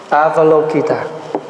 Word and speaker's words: Avalokita: So in Buddhist practice, we call this Bodhisattva Quán, Q-U-A-N, Thay, Avalokita. This is the pronunciation.